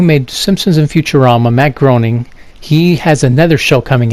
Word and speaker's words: Groening: the guy who made Simpsons and Futurama Matt Groening he has another show coming out since Futurama